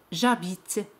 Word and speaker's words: j'habite: Como la palabra empieza por una H muda, se elimina la vocal E y se pone un apostrofo. J'habite.